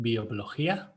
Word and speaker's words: bioblogia: So bioblogia, I pronounce it bioblogia because it's like biología, which is biology, and it's a Mm-hmm.